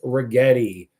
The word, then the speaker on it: Rigetti: It is rhymes with spaghetti. It is Rigetti.